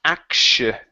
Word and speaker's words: actually: very nice right here this word is actually instead of acting actually it's aksha so pronounced an SH sound actually at silly okay